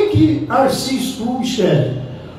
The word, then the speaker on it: R.C.: Como que se pronuncia as letras R-C em inglês?